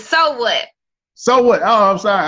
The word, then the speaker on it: S.O. What: And it is S period, O period, because those are my initials, but it's pronounced so what?